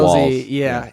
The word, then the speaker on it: Walz: W-A-L-Z, not Yep, W-A-L-Z. Walls.